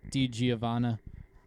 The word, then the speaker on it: DiGiovanna: pitching substance distributed by Harkins, according to Mike DiGiovanna. Pronounced that right.